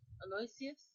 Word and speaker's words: Aloysius: How do you pronounce that? Excuse me, folks. Aloysius.